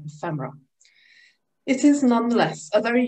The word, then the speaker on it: ephemera: Should it be pronounced ephemera or ephemera? Properly the latter, but ephemerists almost always say ephemera.